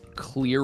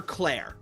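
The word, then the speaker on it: Clear Rivers: Uh, Clear River, is that her name? Yes, that is how it's spelled. But they keep calling her Cla. And I don't know if her name is supposed to be Claire or Clear.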